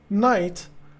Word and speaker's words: knight: You that's that's why every time you say night, you are using the key. But I understand because you know the westerns are uh using the N instead of the key despite you know the key is silent in knight but they are using